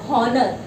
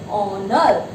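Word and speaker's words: honour: Okay, now see, before a word beginning with silent H, we all know the pronunciation of these words, it's not honor. Do we pronounce it as honor?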